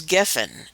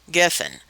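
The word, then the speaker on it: גפן: It's spelled gimel, pei, nun, geffen. The pei sounds like a P or an F, and it's Strong's number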